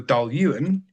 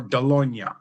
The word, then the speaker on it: Dailuaine: And he always said to me, when we were recommending Dailuaine, he said there was 2 ways to pronounce Dailuaine. It was either Dailuaine or Dailuaine, depending on where you're from.